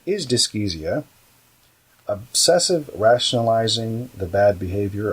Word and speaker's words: dyschezia: So the next word is dyskesia. Moving right along. Dyskesia. Yes, it's spelled Dyschezia.